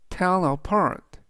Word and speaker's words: tell apart: 뜻이 되겠습니다 이번 단어는 tell apart tellart tellart라고 발음하시면 되겠고요 의미는 구별하다 또는 분하다는